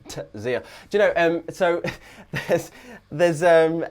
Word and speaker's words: Tzeel: And that is a silent T before the Z, so Man of Tzeel.